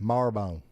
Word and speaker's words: Marabone: It's spelled Marabone, but we call it Marbone.